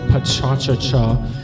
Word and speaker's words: pecha kucha: pearl Hilda relevant arena pecha kucha which is the English pronunciation or patch on chacha which is the Japanese fanatic way of parenting the word and it means